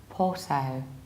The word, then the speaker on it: Porto: is a bit strange so that's why it's Porto in a very similar way in American accent